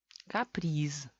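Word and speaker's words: каприз: Z es mucho esfuerzo al final de la palabra y S es mucho más fácil.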